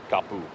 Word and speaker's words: kapu: Uh when the Polynesians migrated north from Tahiti to Havaii, a T turned into a K. So taboo became tapu.